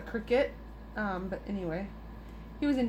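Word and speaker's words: Cricut: cut or cricket or apparently I say it wrong I say Creek cut but apparently just called a cricket but anyway he was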